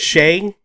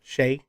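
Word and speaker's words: Skjei: Shay is how I've seen it pronounced. Shay.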